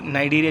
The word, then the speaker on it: Cnidaria: इसको लोग नाइडेरिया भी बोलते हैं, नाइडेरिया।